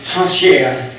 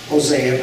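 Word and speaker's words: Hoshea: The word of the Lord which came to Hashea would be how you pronounce his name more than Hosea, but we use that.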